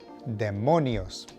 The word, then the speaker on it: demonios: Tip number 2, demons are demonios. Emphasis on the middle syllable, demonios.